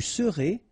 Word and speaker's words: serez: Je serai, tu seras, final S not pronounced, il sera, elle sera, nous serons, final S not pronounced, vous serez, a Z at the end, et serez, ils seront, final T not pronounced, elles seront.